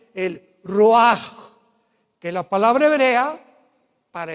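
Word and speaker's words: רוח: El roj, que la palabra hebrea para espíritu.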